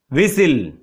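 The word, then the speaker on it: whistle: And last, विसिल, इसमें T silent है, सो यू कैन राइट कैसल एंड हसल।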